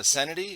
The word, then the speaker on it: Cenety: podcast thank you yeah is your name uh sanity is that is that how you say it yeah it is but it's just my